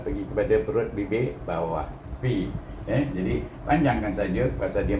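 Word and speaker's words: في: Fa baris di bawah bertemu dengan ya sini, baca dengan mad asli 2 harakat, iaitu fi. Ingat makhraj fa itu gigi kacip atas pergi kepada perut bibir bawah. Fi.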